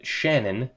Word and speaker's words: Shannon: With Casey Middlestott and Shannon Hale. His name is Shannon, like Shannon Sharp.